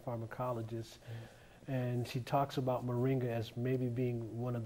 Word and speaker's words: Moringa: the longevity and the quality of life this Moringa plant that's the correct pronunciation Moringa yes sir it's also known uh in a